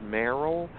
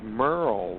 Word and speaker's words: Merrell: thank you TJ actually my parents spelled my name like it should be pronounced Meryl but it's Merle like Merle Haggard all right Merle okay